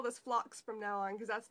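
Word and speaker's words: phlox: can tell so it's based on a flower called blocks and it's spelled ph ello I also love flocks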